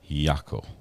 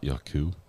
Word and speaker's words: Jaco: Taco with a J, but sounds like a Y. Yako. Yako instead of Yaku. Yako, not Yaku.